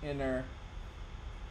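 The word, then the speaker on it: Iner: My name is Inner, pronounced Inner. These are for Mail Monday. Thank you for your connection. My graffiti cards, some prints as well. Thanks. Inner. I-N-E-R. Pronounced I-N-N-E-R.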